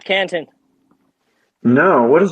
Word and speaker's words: Canton: Have you heard of Canton Network? Okay, canto or Canton? No, Canton.